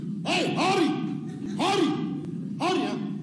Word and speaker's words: Henri: Henri en alsacien se prononce Henri. Hey, Henri! Henri! Henri, hein? Un H très fort, un H aspiré, hein?